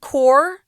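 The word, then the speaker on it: Corps: thanks to k9 therapy core this word core the S is not pronounced on this word guys so be careful with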